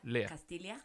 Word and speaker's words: Castilla: If it's double L, Yes. it's pronounced Lia. Castilla.